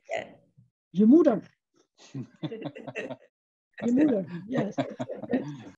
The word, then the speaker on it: Je Moeder: Je Moeder.